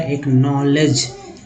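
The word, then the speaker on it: acknowledge: से ले होता है, डी जी को मैंने बताया ना कि डी जी में जो है डी साइलेंट होता है और जी को पढ़ा जाता है, तो जी का ज हो गया।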